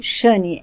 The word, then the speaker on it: Shane: está me conhecendo hoje meu nome fala assim mas se escreve xani sh a n e sh a n e